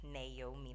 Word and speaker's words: Naomi: Yes, Naomi, that's how it's pronounced.